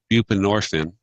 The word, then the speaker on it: buprenorphine: prion I'm sorry I'm not saying it right buprenorphine not appropriate or suboxone and we put in